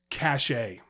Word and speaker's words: cache: Cachet. Now, cachet is a word. Cachet is a word. All right. But if you have to clear your cookies and things, it's cache. Okay.